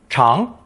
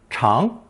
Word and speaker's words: 常: Pronounced second tone, 长, 长.